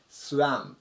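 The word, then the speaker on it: swam: 形スワームですねこちらのちっちゃいあの部分はあと絵の音の中間の音えーって音でスワンという風に読んでもらうと上手に読めますはいえっと ing つける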